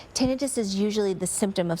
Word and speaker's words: tinnitus: community we pronounce it tinitus because the pronunciation itis assumes that that's the disease tinitus is usually the symptom